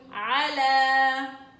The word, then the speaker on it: على: طبعا الألف الصغيرة هي اللي بتلفظ وليست الياء اللي انت شايفاها. على شايفة ياء هنا صح؟ وهنا ألف صغيرة. بما انه في حرف الألف مكتوبة على الياء لا تلفظ الياء، تلفظ الألف، تلفظ الألف. وهذه ألف مقصورة بنسميها، فبنقول على.